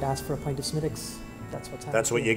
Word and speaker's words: Smithwick's: Am I saying it right, Smittick's? You are, yeah. Don't say Smithwick's. No, it's... Only the uncool kids say Smithwick's, right? No, it's really down to the Irish accent.